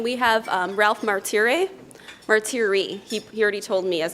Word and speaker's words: Martire: thank you then we have Ralph Martire a Marty REE he already told me as an Italian and